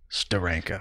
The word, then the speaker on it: Steranko: me just say Steranko there's only one way to say Steranko you're right and that is to do a dramatic pause and then Steranko you have to say his name as he signs his name you know we're gonna